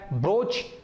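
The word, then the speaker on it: Bharuch: ಇಲ್ಲಿ ಬ್ರೋಚ್ ಅಂದರೆ ಬರೂಚ್ ಅಂತ ಹೇಳಿ.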